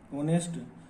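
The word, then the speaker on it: honest: अब एक वर्ड ये होता है ऑनेस्ट, ऑनेस्ट। अब इसमें एच साइलेंट है, ओ की साउंड आ रही है, ऑनेस्ट, इसको बोलेंगे तो ऑनेस्ट बोलेंगे।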